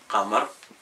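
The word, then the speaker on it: القمر: Quand il se prononce, il est lunaire, parce que L, Qamar, on le prononce.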